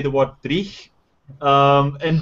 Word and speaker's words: dreich: I remember walking through New York trying to explain to Joe like how to say the word dreich. And dreich is like a word that you use in Glasgow to describe really bad, terrible, depressing weather.